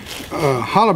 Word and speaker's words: challah: It's spelled with a C, and it's called challah bread.